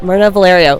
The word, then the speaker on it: Mirna Valerio: i am so excited to have with me myrna valerio did i say that right yes you did thank you for pronouncing my name right so excited to have